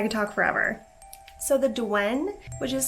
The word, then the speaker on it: Douen: like religious undertone in the beliefs surrounding the dwene so i just want to preface with that if you were wondering but let's jump right into it because i could talk forever so the dewen which is spelled d-o-u-e-n it is a creature